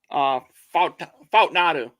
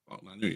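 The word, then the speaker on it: Fautanu: Fautnadu. Fautnadu, yeah.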